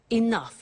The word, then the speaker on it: enough: to concerts and exhibitions, but she doesn't have enough money? Now this word enough, enough. It's written e n o u g h. The pronunciation is enough.